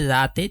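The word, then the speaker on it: لا: এখানে তিন আলিফ টানো হবে। আমরা জানি এই যে চিহ্নটা আছে এই চিহ্নটাকে মাদ্য মুনফাসিলের চিহ্ন বলে। এটা থাকলে তিন আলিফ টেনে পড়তে হয়। তার মানে লাতে তিন আলিফ টান হবে লা এভাবে তারপরে যদি দেখেন হামজা জের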